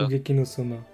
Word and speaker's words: Shokugeki no Soma: Comment ça se prononce déjà? Shokugeki no Soma.